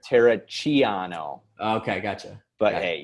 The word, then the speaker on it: Terracciano: straight italian right yeah is that how you pronounce it in italian no we're not saying italian then we gotta hear it tara chiano okay i gotcha but